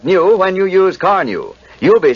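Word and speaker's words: Carnu: Because Carneu both cleans and polishes with one application, two jobs at once in quick time. You've probably heard people say, "Your car looks like new when you use Carneu."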